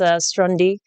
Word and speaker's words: Stronde: like it on demand it is pronounced strandi because of that acronym element but we do use